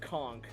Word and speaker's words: conch: Yeah, that's a lot of the giant horse conch. For the record, uh, the word is actually pronounced conchk.